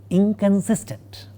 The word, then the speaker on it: inconsistent: You will find that the nasal part of the negative prefix in the word inconsistent is a velar nasal, not a dental nasal, and it's totally unlike how it is written.